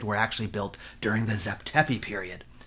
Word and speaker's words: Zep Tepi: period they referred to as - it's usually pronounced Zep Tepi - meaning “first time” or “first occasion.”